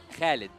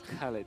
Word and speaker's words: Khalid: How do you say Oh, actually, my name, my real name, yeah, it is Khalid. Khalid? Khalid. Yeah. Okay, so that's how we pronounce it.